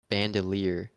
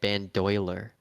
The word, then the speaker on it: bandolier: But I always thought the I was after the O, and I always pronounced it in my head bandoiler.